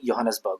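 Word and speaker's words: Johannesburg: इसकी सबसे बड़ी जो सिटी है वो कौन सी है, ये एक्चुअल में लिखा तो जोहानिसबर्ग है, बट इसको स्टैंडर्ड प्रोनाउंसिएशन में योहानिसबर्ग बोलते हैं।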